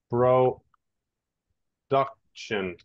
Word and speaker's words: production: Okay, and the other one is production. Okay, pronunciation is like this, all right? Production, repeat, production. Production.